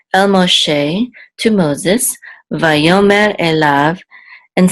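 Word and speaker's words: אֵלָיו: And so the accent's on the last syllable, lav, so elav.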